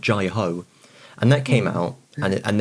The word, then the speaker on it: Jai Ho: And in their bit, they mispronounced it as J-Ho. And I remember hearing this on the radio at the time thinking, surely someone should have just said something when they were recording that. It's pronounced Jai-Ho, actually. Sorry.